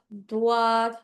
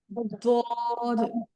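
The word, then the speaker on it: ضاد: সদ সদ দদ, দদ। হ্যাঁ। এখানে আমি একটা কথা সবাইকে বলে দিচ্ছি, কেউ সোয়াদ দোয়াদ এরকম ভাবে পড়বেন না, হ্যাঁ। সোয়াদ দোয়াদ এরকম ভাবে পড়বেন না। সবাই হচ্ছে সদ দদ, বুঝতে পেরেছি আপনাদেরকে?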